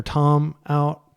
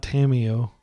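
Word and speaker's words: Tamiyo: reason to lead with the island get our Tom out TomTom it is pronounced Tomo by the way not tamio you may hear people say Tamo that's fine but she's from the Kagawa Shard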